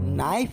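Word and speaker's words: knife: देखो, नाइफ में के साइलेंट रहता है और वाइफ में?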